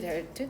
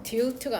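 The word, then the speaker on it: dealt: dear delt델트거든 발음은 delt트 delt트 de트가 아니라 delt트 여튼 dearing with의 형태로 써야 된다.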